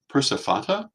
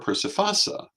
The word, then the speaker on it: Persephone: in ancient Greece um in the Attic area she was Persephone but in most of the greek-speaking world that was not how that name was pronounced it was persifata or persifasa and there were still more versions and later uh as we move forward in time uh percipini became more common which is how we get the Roman precipina so you know this